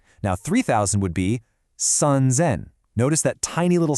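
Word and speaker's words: 三千: Now, 3,000 would be sanzen.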